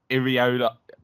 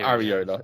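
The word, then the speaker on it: Iraola: part of his name it is Iola not arola it's Iola Iola yeah we could we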